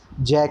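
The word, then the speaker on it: Jaques: आई हुई है और ये डायलॉग किसका है, जैक का, ये याद रखना है, जैक का डायलॉग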